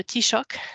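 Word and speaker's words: Taoiseach: en Irlande il s'appelle le tshock euh ça s'écrit pas du tout comment ça se prononce mais c'est l'occasion de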